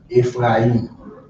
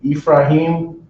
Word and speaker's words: Ephraim: Not in Ephraim. Not in E. I mean, if you say, it depends on how you pronounce it. If you say Ephraim, then the I will be silent.